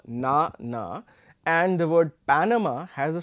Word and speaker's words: Panama: or the third syllables similarly in Panama we are going to be slightly louder on the first syllable as opposed to the second and the third syllable now this is basically